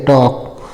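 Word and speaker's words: talk: एल के है तो एल जो है साइलेंट हो जाएगा और के है तो क हो जाएगा टॉक है ना और टॉक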